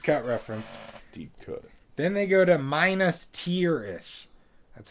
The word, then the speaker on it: Minas Tirith: Then they go to Minas Tirith. That's how they pronounce it. Minas Tirith.